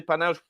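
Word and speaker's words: panache: I don't know well it's a French word so I will say panach with an S and not pronounce it uh we have obviously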